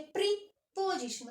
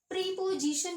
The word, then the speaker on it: preposition: अगर इसके साउंड पे जाते हैं, अगर इसके प्रोनाउंसिएशन पे जाते हैं तो यूज कर इसको बोलते हैं प्रीपोजिशन. कभी नहीं बोलिएगा इसको प्रेप, यानी कि ये इतना PREP प्रेपोजिशन. Okay, प्रपोजिशन प्रपोजिशन.